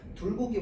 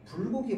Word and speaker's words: 불고기: 자, 보기를 참고하여 학생이 정확한 발음을 하도록 조언한 내용으로 알맞은 것은 이라고 해가지고요. 지금 둘고기 먹고 싶어요. 둘고기. 혹시 불고기 먹고 싶은 거니?